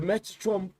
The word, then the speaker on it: Metatron: The Metatron is eight eight times by 13,500 a pop. The elite Met Meta, how do I pronounce that? Meta Tron.